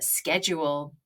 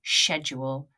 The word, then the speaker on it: schedule: Some people pronounce this schedule. Schedule, it's fine. You might get the odd person saying, "You're saying that in American English," but I say schedule, and that's American. And I'm British, so more American language is coming in.